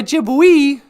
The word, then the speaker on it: Ojibwe: Yeah, it's like Ojibwe, because you don't say Ojibwe. Right. So Ojibwe, O-J-I-B-W-E, is pronounced Ojibwe, because the E's are A.